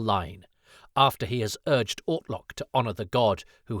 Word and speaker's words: Ortlock: Ian is scripted to mispronounce Ortlock as Ortok, but it sounds like William Russell instead goes with Orklock. To our ears, it's not such a gross error, so the way Ian's